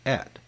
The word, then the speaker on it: et: In Latin, it's pronounced et, or and in English.